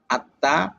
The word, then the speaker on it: আত্মা: যেমন 1 নম্বরে মফলা, মফলা যে বর্ণের সঙ্গে মিলিত হয়ে আসবে, মাঝে হোক অথবা শেষে হোক, সেই বর্ণকে 2বার উচ্চারণ করাবে, যেমন পদ্মা, আত্মা, গ্রীষ্মকাল, বিস্ময়।